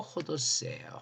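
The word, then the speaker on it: ὁδός: 이 네레크란 말의 번역어가 바로 호도스예요. 호도스. 길이다. 길. 요 ODOS인데 요거 거꾸로 되어 있는 거 쉼표 거꾸로 되어 있는 거 후 발음 난다 그랬죠.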